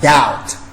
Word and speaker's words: doubt: Just like doubt. I don't say doubt. I don't say doubt. You say I doubt. Doubt. Because B is a silent letter.